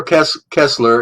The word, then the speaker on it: Koestler: Arthur Kessler, it's spelled Koestler, Arthur, Arthur, Arthur Kessler, The 13th Tribe.